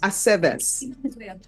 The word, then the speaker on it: Aceves: Aceves. All right. I never know what to do with the V's either. With what, ma'am? The V's, in the names to pronounce it correctly. It's always ve.